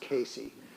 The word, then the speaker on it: Case: But it's a mirror, and Davis collected it with its history that it belonged to a man named Casey, C-A-S-E, but apparently it's pronounced Casey.